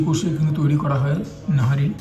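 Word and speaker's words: نہاری: দেখাবো আমাদের principal item এটাই মাটন নাহারি অনেকে নিহারিও বলে বাট এখানে একজন ওয়েটার কে জিজ্ঞাসা করলাম ভেরি সিনিয়র উনি বললেন নাহারি একচুয়ালি উচ্চারণ আমি হাফ প্লেট নিয়েছি এটার দাম ৳350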